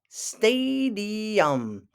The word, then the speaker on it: stadium: to go to the stadium Stadium emphasis on the first syllable who doesn't love to